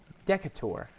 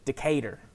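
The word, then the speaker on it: Decatur: for out here but if you looked at it and you didn't know how to pronounce it you're just reading it it would be decator but you pronounce it decater decater with a strong southern accent yep I I love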